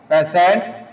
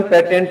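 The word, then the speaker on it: patient: तो यहां पे द पेशेंट देखो इसमें उच्चारण में और मीनिंग में थोड़ा अंतर है। है ना? हां। और भाई अपन पेटेंट भी बोल देते हैं इसको। तो पेटेंट क्या है? रॉन्ग है।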